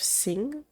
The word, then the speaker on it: Singh: Detective Singh. Is that how you pronounce that name? Huh? Pause. I'm googling how to pronounce this name. Okay, I'm pretty sure I pronounced that right.